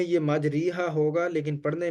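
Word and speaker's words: مجريها: को पढ़ा जाता है तो लिहाजा यहां पर हम इ माला करेंगे और यह मुकम्मल कुराने करीम में सिर्फ एक ही कलमा है बवे पारे में आता है जहां पर पहला रुबा है तो पहले रुब से पहले ही बिस्मिल्ला हि मजरी हा लिखा है तो इसको पढ़ेंगे मजरेहा ठीक है यहां पे मजरी हा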